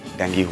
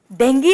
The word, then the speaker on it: डेंगू: पर मुझे डर है कि बड़े भैया को डेंगू हुआ है। आपको तो बोलना ही नहीं आता। डेंगू नहीं, डेंगू हुआ है चंदू भाई को। ओ तेनालीरामन, सही उच्चारण है डेंगी, समझी?